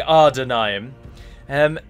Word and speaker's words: Adûnâim: Sindarin words are pronounced so it is correct to say are denying em and if people think it's spelt with an R then it's on them to educate themselves and not on me to pronounce it incorrectly just so they know that there's not an R there so I thought it